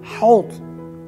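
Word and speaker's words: حوض: But remember that you have to be careful about pronouncing correctly these Arabic words, because they start with ha, ha, not ha, ha, no, ha, that is correct, ha.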